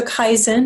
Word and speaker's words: Kaizen: and these these last moments here mmm so Kaizen that's the way it's pronounced when people go Kaizen whatever what Kaizen